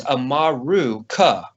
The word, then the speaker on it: Amaru: Um, but in reality, the name America is made up of a root word uh, amaru, amaru, depending on where you are, how you say it, it's uh, a m a ru.